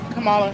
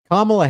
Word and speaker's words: Kamala: Kamala. Kamala. And you think she'll win actually today? You did say it wrong cuz Kamla Harris pronounces her name Kamla.